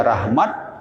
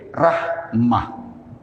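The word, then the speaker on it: رحمة: tentang Rahmat Rahmat head atau Rahmah karena di belakang itu tak marbutoh boleh bacanya Rahmat orang Indonesia atau kalau pakai ilmu tajwid Rahmah baik ini masjid Arrahmah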